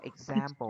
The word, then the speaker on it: example: Đúng rồi, và chữ example là ở ngay chữ giam là chữ Z chứ không phải là chữ S nhé. Chỉ đọc là example chứ không phải là example.